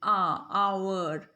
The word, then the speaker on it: hour: कर रहे हैं, HOURR, बट साउंड में when we pronounce word are वी से the first sound of आर. आ की साउंड आ रही है पहले, आवर, इसलिए इट इज़ the sound of vowel.